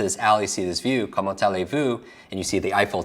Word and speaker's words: Comment allez-vous: Comment allez-vous? Now when I hear that, I hear come on to this alley and see this view.